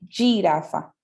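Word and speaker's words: giraffa: La jirafa, sí, tiene una escritura muy similar al español, pero en el italiano va a tener como una pronunciación como G, ¿sí? Girafa.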